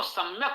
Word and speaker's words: सम्यक: यदि आपको सम्यक उच्चारण करना है, या चूंकि तालव्य है और मां ओष्ठ है, यदि अनुस्वार लगा देंगे तो उसका उच्चारण या के अनुसार तालव्य हो जाएगा, तो सम्यक नहीं पढ़ा जा सकता, संयक पढ़ा जाएगा।